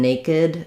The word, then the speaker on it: naked: Um For whatever reason, naked, we add a syllable there. Um There's a few words that do that as well. So, for if we have like baked or snaked, baked is a better example. It's a more common word. Not two syllables, just one. Baked, it follows the rules. This one is an exception.